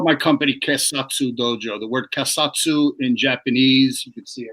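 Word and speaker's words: keisatsu: it i called my company dojo the word kasatsu in japanese you can see i'm a bit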